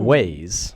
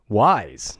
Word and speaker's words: Wyze: ways. Wyze. Wise, not ways. As far as my understanding, that's how you pronounce it.